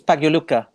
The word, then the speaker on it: Pagliuca: Until he becomes the owner, I'm not going to pronounce his second name. But yes, Steven, who's the owner of It's Pagliuca.